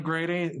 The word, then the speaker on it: Grede: just dial up grady i spell my name g-r-e-d-e it's pronounced like the irish grady and uh i'm dutch